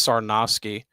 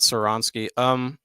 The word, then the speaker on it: Sarnowski: I think it's Sarnowski, not Saronsky. Yeah. So Michael Sarnowski, I'm pretty sure is how you pronounce it, is set to